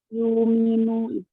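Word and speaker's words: يؤمنوا: Yuminu. Ya. Ingat ya, ibdal itu berarti dibaca diganti ya. Hamzahnya diganti, dibacanya dengan huruf mad.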